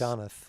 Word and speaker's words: Donath: it's Donath. Donath. Yeah, see, I pronounced it wrong both ways.